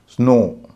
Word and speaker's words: snow: जैसे SNOW, इसमें W अंत में है, लेकिन W का उच्चारण नहीं होता है। इसीलिए यहाँ पर हम उसको अंत में ओ ही मानेंगे, उसका उच्चारण ओ करेंगे। स्नो, विंडो, विंडो में भी